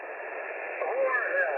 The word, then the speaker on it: Churchill: Whore Hill. I emphasize Whore Hill, which is a Polish pronunciation for Churchill, by the way. It's the Polish precise pronunciation in the Polish language of the word Churchill. It's Whore Hill, but the